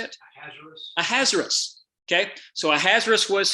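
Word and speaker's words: Ahasuerus: your translation may say uh i can never pronounce word how do you say it a hazardous okay so a hazardous was his hebrew name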